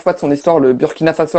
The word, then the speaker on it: Burkina Faso: Surtout que c'était le Alors, déjà, on dit le Burkina Faso. Le Burkina Faso, même si ok. ça s'écrit U, Je m'attendrai. c'est parce que c'est pas un mot français.